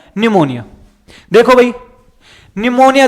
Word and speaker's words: pneumonia: देखो भाई निमोनिया देखो नाम निमोनिया या निमोनिया है और स्पेलिंग पी से स्टार्ट होती है भाई।